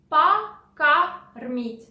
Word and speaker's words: Покормить: So O, both O, are not stressed. So you pronounce them like A. Покормить.